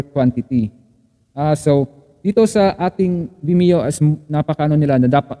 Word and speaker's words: Vimeo: Vimeo, which is literally the word of video with me. So, Vimeo nga, tama nga ako.